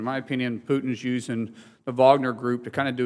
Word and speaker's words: Wagner: about uh you know I believe is pronounced Wagner but I believe the media pronounces Wagner group all the time I and I'm